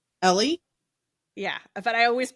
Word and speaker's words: Ely: It's literally E L Y. Ellie.